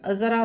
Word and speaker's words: Z: देखिए जी जो है वो अमेरिका प्रोनाउंसिएशन है और जेड जो है वो ब्रिटिश प्रोनाउंसिएशन है। तो हम बीइंग पाकिस्तानी ब्रिटिश को फॉलो करते हैं, इसलिए मैं तो जेड बोलता हूँ। जो जी बोलते हैं वो भी सही बोलते हैं, गलत नहीं है। तो दोनों तरह की इसकी प्रोनाउंसिएशन सही है। जी अमेरिकन है, जेड ब्रिटिश है।